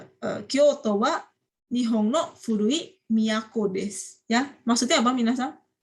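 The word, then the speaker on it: 都: Apa sih miyako ini? Ini kan kanjinya Kyoto ya. Ini bacanya miyako.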